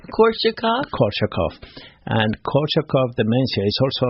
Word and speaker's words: Korsakoff: Korsakoff.